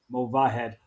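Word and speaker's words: Movahed: keep an eye out for Cena mavahed thank you David you pronounced it correctly I realized that I was switching to H and the V but it's mova head uh Cena we'll keep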